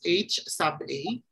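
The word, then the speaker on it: Hₐ: be ho we have ha a can be read as H sub a or you can read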